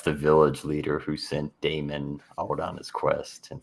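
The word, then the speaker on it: Damyn: his name is a damon is that what we agreed on it's d a m y n which i guess is damon damon mercenary and so this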